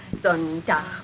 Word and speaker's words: Sonntag: That is good, but pronounce the words broader, so Sonntag, Montag, Dienstag, yes?